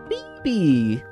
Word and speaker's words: Phoebe: Since I also want my girlfriend to be in the video, I'm going to name her Phoebe.